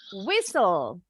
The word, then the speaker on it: whistle: Whistle. Whistle. Yes. Ini ada 2 nih silent lettersnya. Do you know which one? Whistle. L. Yang mana aja? L. Masa L? Yes, T. Justru T-nya. Whistle. T-nya nggak bunyi.